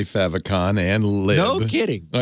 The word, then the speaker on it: favicon: i am i say favicon and live no kidding oh yeah all right i guess you know really the two point positions are the pronunciation is determined by what it's an abbreviation for your position mine is